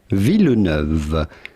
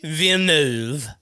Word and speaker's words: Villeneuve: to pronounce with the typical french canadian french pronunciation villeneuve do not pronounce the s to d nearly silent in french do not say denis but rather villeneuve i am french too um but yeah